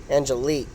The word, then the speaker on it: Angelique: Angelique. So yeah, versus Angelique. Because that QUE is supposed to be a K.